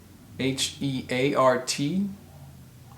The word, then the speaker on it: heart: that's not right so h-e-a-r-t is pronounced heart heart almost like h-a-r-t heart the next word b-e-a-r-d